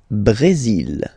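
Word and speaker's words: Brésil: it's only mexic okay Brazil Brazil okay you will pronounce the final L here and then remember accent goes like a Brazil Brazil okay so you've got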